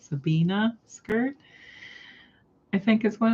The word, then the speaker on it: Sabina: that you were making I'm gonna say it wrong Sabina I want to call it Sabrina but I know that's not it Sabina skirt I think is